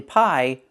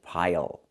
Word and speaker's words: pile: So we have to pronounce that dark L. Oh, a smelly pile of garbage. Not a smelly pie, but a smelly pile.